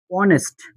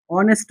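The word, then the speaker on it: honest: কিন্তু এস এ উচ্চারণ যদি না হয় দেখেন অনেস্ট। অনেস্ট ম্যান। আমি কি লিখলাম? অনেস্ট ম্যান। এই অনেস্টের কিন্তু ও থেকে উচ্চারণ হইছে।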